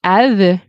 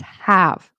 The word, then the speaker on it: have: So, how long have Be careful too, don't say how long have. It's have. Okay? It's not. Pronounce the H. It's there.